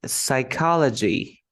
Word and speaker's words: psychology: first one the p the silent P for example as you can see here you can like find a pattern like PS when you have the PS you don't pronounce the p you don't say psychology no